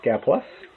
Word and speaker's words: Gaplus: some guy plus today g a plus p l u s is how uh to spell and pronounce the name gapless and as you can